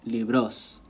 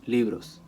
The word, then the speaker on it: libros: Like they'll try to say, no un libro, sino dos libros. And that's incorrect. Dos libros. Okay? It just falls on the li. It stays there.